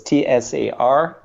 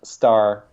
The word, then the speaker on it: Tsar: So it's Tsar. It's not star. It's Tsar. Okay. So the T and the S are in the other order.